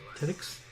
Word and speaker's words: Tedyx: Okay, that one's kind of hard to pronounce. Tedyx. T... E-D-Y-X. Tedix?